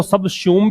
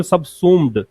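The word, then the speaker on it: subsume: phenomena can बी सबसू इसको सब शूम भी बोलते हैं ब्रिटिश इंग्लिश में सूम यह आता है और अमेरिकन सब सुम उसमें यह नहीं आता है दोनों उच्चारण हो सकते हैं सबसू भी पढ़ सकते हो सब सुम भी पढ़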